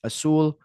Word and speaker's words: Azul: And now let's get to today's episode with Azul, just Big Dog Azul.